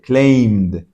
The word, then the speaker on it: claimed: La palabra claim, pedir o reclamar, termina en M y la M suena. Claim. Entonces esto como una D. Claimed.